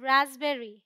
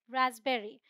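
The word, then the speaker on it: raspberry: बोलते क्या बोलते कबर्ड इसे हम बोलते हैं रसबेरी पी साइलेंट है रसबेरी ऑलराइट अब हम देख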